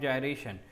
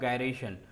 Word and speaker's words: gyration: हैं जिसका नाम है रेडियस ऑफ जायरेशन या फिर रेडियस ऑफ गायरेशन। अलग अलग प्रोनाउंसिएशन है लेकिन भावनाएं सेम हैं।